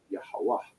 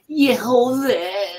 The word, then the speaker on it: Yahweh: you'll see it says Yehovah. It's going to say Yehovah. But that's called Yiddish. That's modern day Turkey and Eastern European dialects mixed in with the continents of Paleo Hebrew. Yahweh is the pronunciation.